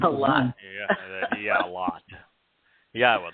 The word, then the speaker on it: Yahowah: Yahowah, the proper pronunciation of the name of Eloah, God, as directed in his Torah teaching regarding his Haya existence and our Shalom restoration. If you can say Eloah, Torah, Shalom, and Haya, then you can pronounce God's name.